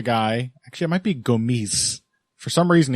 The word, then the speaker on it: Gomis: Gomis is a guy Actually, it might be Gomis. For some reason, he's the only Frenchman who pronounces the S on the end of his name.